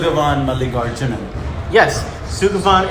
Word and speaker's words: Malligarjunan: Sugavan Malligarjunan.